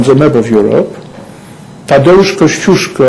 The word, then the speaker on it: Kościuszko: map of Europe, Tadeusz Kościuszko, I know that this very pronunciation could be quite difficult for you, but I wonder if I say Koziaki, which is Australian pronunciation.